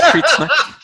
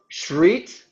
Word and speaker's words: skitsnack: The first syllable? Skit. Shit. Shit. Oh, shreet with an R? Shreet. Shreet? Shreet, yes. Oh, Crete? Shreet, snack.